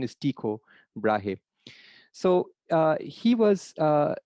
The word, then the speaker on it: Tycho: another brilliant astronomer named tico brahe so it's pronounced taiko tycho but it's the correct pronunciation is tico brahe so he was